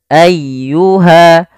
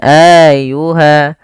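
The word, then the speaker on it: أَيُّهَا: tidak ditahan sanafrakum ayyuha ayyuha tekan di lafal ynya jangan ayyuha jangan Ayuha atau juga memanjangkan a-nya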